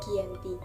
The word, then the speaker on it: Giyanti: penandatanganan perjanjian yakni di desa Janti atau dalam pelafalan Belanda terbaca Dianti lokasi ini sekarang dikenal